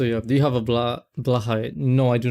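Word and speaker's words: Blåhaj: At least I think that's how it's pronounced, like Blahai instead of Blahash, but I think it's Blahai, I'm pretty sure.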